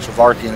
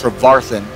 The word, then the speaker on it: Trevarthen: By the way, I've been saying his name wrong. I've been saying I said it wrong tonight. Trevarthen. It's Trevarthen is how you say it, his name.